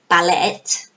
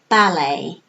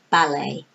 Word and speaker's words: ballet: pronunciation we don't say ballot we say ballet why it's because this is a French word and in French you don't pronounce the last letter so in English because